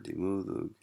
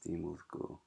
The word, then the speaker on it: dimoothgu: I think it is dimoothgu. Yeah, because it's dimoothgi. That's right. This has to be extra to preserve this long vowel, whereas here it's just a short vowel, so it doesn't matter. So this is why it's dimoothgu.